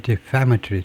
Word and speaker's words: defamatory: 발음 보면 두 번째 실러블의 액센트가 defamatory네요. defame. 명사하고 똑같이 defamatory. 두 번째 실러블의 액센트가 있네요.